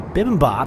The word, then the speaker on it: bibimbap: That didn't stop me from choosing the bibimbap. I think I pronounced that right.